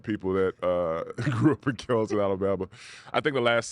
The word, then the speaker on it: Kellyton: Kellyton, Alabama.